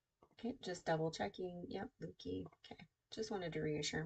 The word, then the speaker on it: Leuke: Yep, Leuke.